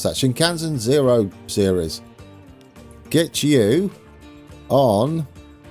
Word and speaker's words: Shinkansen: with the shinkans oh dear how do you pronounce that shinkansen zero series get you on yeah oh come